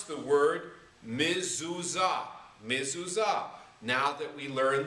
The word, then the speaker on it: mezuzah: So you're going to learn to be able to pronounce the word mezuzah.